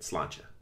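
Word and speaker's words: sláinte: right i open it i think that's how you say it slancha s-l-a-i-n-t-e it's like cheers well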